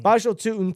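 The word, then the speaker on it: Bhayshul Tuten: This Bashel Tuton. Yeah, Toutton. There you go. Bashel Tuton. Bashel Tutin.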